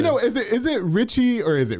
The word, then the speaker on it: RXCHY: Richie or is it Ricky or am I saying it wrong or what's going on no my nickname has always been Ricky but I kind of turned into Richie like my artist name right and why